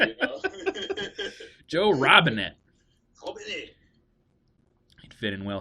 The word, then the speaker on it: Robinet: Little side note, it's totally pronounced Robinet because he's French. But he says, no, it's Joe Robinette. Hey, my family bastardized it many moons ago, so I just have to go with the flow, you know?